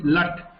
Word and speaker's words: लट्: Lik dhatoho lit lakaraha. No. It's not lit. It is lat. Lat lakaraha.